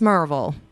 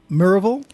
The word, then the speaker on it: Maryville: spelled mville I know it is but it's pronounced marville merville Jim you can back me on that right